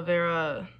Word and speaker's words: Wera: at german tools especially vera tools i think that's how you pronounce it i'm pretty sure the w is a v um i don't know